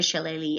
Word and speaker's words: shillelagh: It's called a shillelagh. I know it looks like a weird word up there, but if you look in the parentheses, you'll see how you pronounce it, a shillelagh, and it's a walking stick.